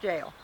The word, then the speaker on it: gaol: say this is called the old gal that's pronounced jail yeah it's Celtic yeah I guess believed